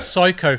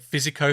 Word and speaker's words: Psycho: idiot as a kid, I kept pronouncing it Physico Fox. Physico? How do you even... Because it was Psycho, C-H-Y, whatever, but I didn't realise PH was spelt...